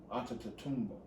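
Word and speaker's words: Antetokounmpo: know my african people anta both it's tombow onto toomba so he had to change it for vernacular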